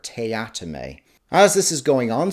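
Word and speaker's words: Teatime: the job a Mr tea time or as he likes to say it's pronounced Mr tatame as this is going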